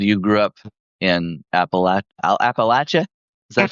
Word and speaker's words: Appalachia: You said you grew up in Appalach Appalachia. Is that how you say it? Appalachia.